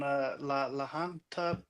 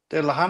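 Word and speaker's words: Lahaina: In Maui on Laanta Beach or something. Lahina Lahina.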